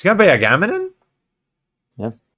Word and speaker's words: Agamemnon: It's gonna be Agamemnon? yeah. How do you say in Agamemnon, Greek? Agamemnon? Or Agamemnonas. Agamemnonas.